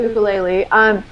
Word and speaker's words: ukulele: Yeah, well, and one thing I'll share with my fellow ukulele, because it is pronounced ukulele, and listeners and people who like to listen and play along with other things, we either sink or swim.